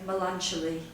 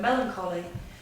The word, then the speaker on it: melancholy: it so in my mind I always say melan cuz I didn't hear the I didn't hear the word Melancholy so you can learn a new word and